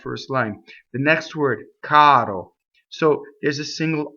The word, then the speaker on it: caro: Caro. Caro.